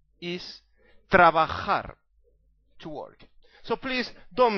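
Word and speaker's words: trabajar: Comm mistake is hamon ham and it's not travar is traar to work so please don't make all these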